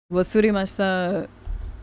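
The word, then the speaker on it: 忘れました: But, like, just remember, it's, like, WASUREMASHITA.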